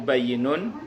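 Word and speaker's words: بَيِّنٌ: Al halalu bayyinun wal haramu bayyinun, itu bayyinun itu tulisannya ba ya nun ya. Ba ya nun, bayyinun itu jelas. Itu orang Jawa Timur bacanya halal pen, haram pen.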